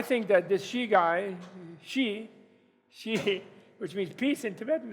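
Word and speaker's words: Xi: And I think that this she guy, she, which means peace in Tibetan, actually, she, even though they spell it X-I, but she could do it, and we're praying for him to succeed in doing it.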